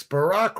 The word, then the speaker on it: Barack: Speaking of potential bad names in politics, Barack rhymes with a rock.